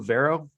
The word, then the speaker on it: Vairo: the hockey IQ podcast we bring on Lou Vera did I uh pronounce that properly Lou Vero yeah that everybody says barel it's not proper